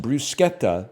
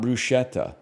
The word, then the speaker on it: bruschetta: Bruschetta is pronounced brusqueta, not bruschetta.